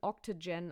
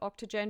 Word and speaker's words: OCTGN: It's spelled OCTGN, Octogen, I believe, is how they call it.